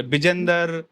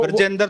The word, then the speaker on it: बृजेन्द्र: और हमारे हरियाणा में ना आपके नाम को जरूर मिस प्रोनाउंस करते होंगे, बिजेंद्र, मतलब ब्रजेंद्र थोड़ा एकदम से निकलता नहीं है।